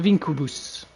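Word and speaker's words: Vinquibus: The vinkubus, if you pronounce it properly in classic Latin for scorch the earth.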